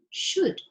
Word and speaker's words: should: is no l that you don't pronounce the l and the s h is the sound sound and the o sounds like so should should and in would